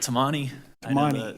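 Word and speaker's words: Tamagni: It's Tammani. It's got a silent G.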